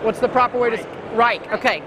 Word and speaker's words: Reate: What's the proper way to rake? Okay. Nope. Rake. Okay, like the garden tool.